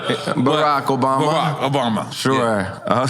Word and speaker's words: Barack Obama: I fucked up the way I pronounced it. Barack Obama.